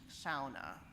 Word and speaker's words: sauna: And I'm using the Finnish pronunciation of the word for sauna, which is sa.